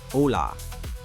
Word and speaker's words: Olá: Pronounced ola.